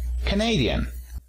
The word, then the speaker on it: Canadian: Y Canadá decimos Canada. ¿El acento dónde se encuentra? En la primera sílaba. ¿Ok? Canada. Para nacionalidad decimos Canadian. El acento se encuentra en la segunda sílaba. Entonces, escribimos una D de diferente porque el acento se encuentra en sílabas diferentes.